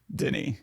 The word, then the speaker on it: Denis: And Denis, for the record, it's French, so I think the S is silent. Denis.